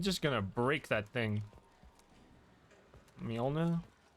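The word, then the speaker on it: Mjölnir: The way Nordic languages pronounce J's is so annoyingly weird. It's like Mjolnir.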